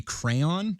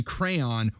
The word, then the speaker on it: Crayon: Many of the short stories written under the pseudonym Jeffrey Crayon, which was one of his common pseudonyms. Crayon? Like crayons? That's how it's spelled, yeah. Like a crayon.